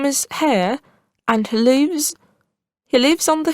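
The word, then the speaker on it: Haigha: His name is Hare. He pronounced it so as to rhyme with mare.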